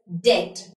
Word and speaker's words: debt: That means the letter B is silent in all of these words.